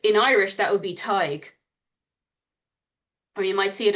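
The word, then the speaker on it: Tadhg: um so yeah and you might not have realized that when you saw this word written down that it would pronounced Ty it's a bit of strange one and you do sometimes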